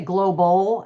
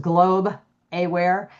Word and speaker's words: Globe Aware: A lot of people say global, I think make it two syllables, but it's just Globe Aware.